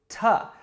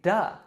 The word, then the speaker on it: to: one being two so natives will rarely fully pronounce the word to instead we will reduce it to ta or if it comes after a word ending in a vowel or a d we'll say duh and just a note